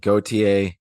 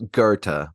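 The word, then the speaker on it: Goethe: is Gerta like that that's how the Germans say it so I I should probably roll with that so it's Gerta but you know I've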